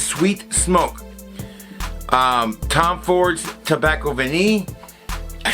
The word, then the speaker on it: Vanille: Tom Ford's Tobacco Vanille. I said it right, look at me. I know, I was going to say vanilla, but I said vanille.